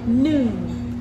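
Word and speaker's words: หนึ่ง: And 1 is nung.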